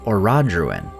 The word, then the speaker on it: Orodruin: And I realized the reason I didn't catch this at first is because she pronounces it Orodruin.